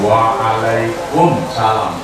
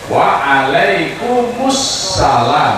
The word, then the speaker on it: waalaikumussalam: Nah itu kalau dibaca ya waalaikum assalamu, maka bacanya waalaikumussalam, bukan waalaikum salam, ya.